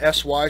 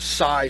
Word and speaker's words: SY: member that donated these i was just calling them sy cigars but that's actually pronounced psi cigars so i want to